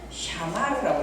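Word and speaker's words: שמר: 그러니까 무조건 알았는데 살아야 되는데 처음에 나오면은 사 이렇게 샤마르 이렇게 한 발음이 좀 어렵기 때문에 이걸 그냥 부드럽게 하기 위하여 샤마르 이렇게 읽는 거예요.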